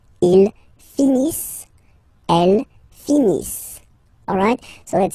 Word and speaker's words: finissent: So remember, as usual, when we get the verbs, E and T not pronounced. Ils finissent.